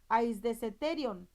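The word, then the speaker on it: αἰσθητήριον: Aquí la palabra sentido es la palabra 145 que se pronuncia aisdeseterion, y este se traduce como órgano de percepción, juicio, sentido, captar y velar.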